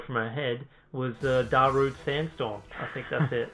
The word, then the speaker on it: Darude: night pumping in the background that's why i pronounced it right da rude yeah yeah i think so it's just funny